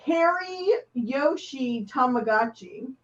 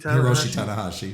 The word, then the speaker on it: Hiroshi Tanahashi: Harry Yoshi Tamagotchi. Yeah. Hiroshi Hiroshi Tanahashi.